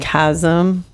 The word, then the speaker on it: chasm: A sarcasm. Like chasm.